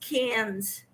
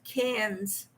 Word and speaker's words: Cairns: told me it's pronounced cans she's got a few us people from australia in her lives once and she said cairns and they laughed at her and they told her it's pronounced cans so thank you i